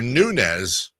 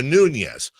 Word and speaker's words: Nunes: Brendan not a Brandon you're a nunz not a Nunes which one gets more